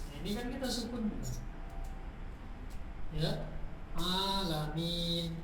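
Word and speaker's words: العالمين: Alamin. Harus panjang kalau alamin salah.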